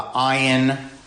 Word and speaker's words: ayin: Aleph is silent and it's just a placeholder for whatever vowel, and ayin is guttural, so it's I can't do it, and it won't come across on Zoom.